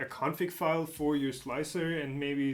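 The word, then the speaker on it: Slic3r: Isn't it just pronounced like slicer? Uh yes, it is. But I'm so sick and tired of of having to This doesn't work.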